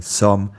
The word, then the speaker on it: sommes: As you know, nous sommes means we are, and the final s in sommes is silent.